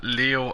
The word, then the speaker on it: Leo: the Glorious most venerable Leo ayokoi it's written with the kanji for lion to be sure but it's pronounced Leo I wager you interested let